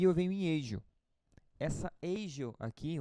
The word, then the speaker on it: ASIO: Essa Agio aqui, ou Asio, como o pessoal fala, mas na verdade a pronúncia correta seria Agio.